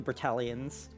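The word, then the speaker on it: Bertalians: separate Island they call Berta berel berel like eel a l like the same as the spelling just without the Ian at the end yeah they call B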